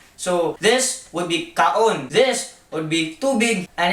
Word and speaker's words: kaon: So every vowel is its own syllable, and they are not connected. They're all different syllables. So this would be kaon.